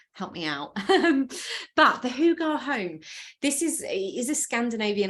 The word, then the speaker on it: Hygge: tell me differently because I would have always said Hygge, but it's Hugar, the Hugar home. So I don't know if there's any Scandinavian experts on the call, help me out. But the Hugar home, this is a Scandinavian idea.